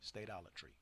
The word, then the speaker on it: statolatry: Yes, and the pronunciation is state, S-T-A. You have the long, I forgot what the hell it's called over the A. So you say states, not stats. Yeah, long Alatry. Statolatry.